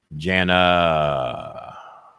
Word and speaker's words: Jana: My name is pronounced as Jan with an extra A. Okay. Jana.